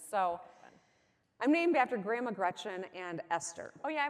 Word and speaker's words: Gretchen: So Grandma Gretchen was always adamant. Your name is Gretchen. It is not Gretch. That rhymes with wretch, and that is not pretty.